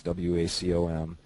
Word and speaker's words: Wacom: made by Wacom I I really don't know whether they pronounce it Wacom or wake it's Wacom um I've been real